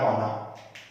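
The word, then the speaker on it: wanna: Contract आप करवाते हैं, तो वांट टू को जोड़ के बोला जाता है वाना, ठीक है। उच्चारण आप अच्छे से देख लीजिएगा, वाना।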